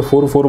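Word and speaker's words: fur: जो बाल होते हैं, मैं इससे पहले फुर बोला कर रहा था, लेकिन मुझे खुद भी बाद में समझ में आया कि इसका प्रोनाउंसिएशन फर होता है, यानी इसके बाल जो होते हैं।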